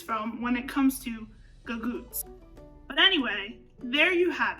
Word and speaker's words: Gagootz: And just like we've seen with many other words, that hard C in the original Sicilian has become softened and turned into that G in the Italian American. And that's how we got to Gagootz.